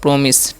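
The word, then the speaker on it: promise: पी से प, आर से र, ओ का उच्चारण ओ, तो प्रो, MI, सी से तो है माइस, प्रोमिस, मिस नहीं, माइस नहीं पड़ेगा, इसे मिस पढ़ते हैं, प्रोमिस, ठीक है।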